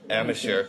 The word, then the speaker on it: Amacher: They're gonna post Amateur. Yeah. Well, pronunciations. Yeah, I know. When you look at it being spelled, it's AMACHER. So it's amateur for some people.